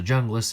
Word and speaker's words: Junglas: to the essie homeless that's the junglas if you have never heard it pronounced before but that jay is pronounced with a huh as it has got this south american thing going on named after colombian homeglass